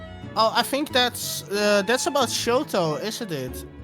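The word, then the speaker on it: Shxtou: I think it's Shoto. Yeah. I think Sheena did say Shoto. I just got confused by the X. I was like, who's Shucksto? Oh yeah. Oh yeah. Oh yeah, it's spelled with an X. Yeah, that's definitely Shoto.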